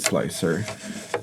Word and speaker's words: Slic3r: We call it Slicer, but it's Slic3r Prusa Edition.